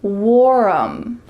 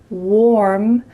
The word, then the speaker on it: warm: Instead, the word warm has just one syllable, not warm. Instead, warm, warm. Notice how my lips are in an O shape. Warm, warm, with a clear R, warm.